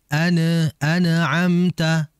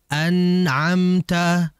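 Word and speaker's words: أنعمت: mengalir yang sedang sehingga merupakan kesalahan kalau kita membacanya dengan memantulkan ini yang sering terjadiina anamtata tidak boleh dipantulkan yang betul ditahan dengan tahanan itu dia mengalir an anamta anamta itu yang betul ya Sehingga jangan memantulkan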